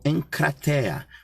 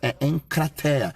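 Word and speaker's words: ἐγκράτεια: sabem muito bem que quando há três vogais a do meio é suprimida então a expressão correta pronúncia correta em cratera que no grego quer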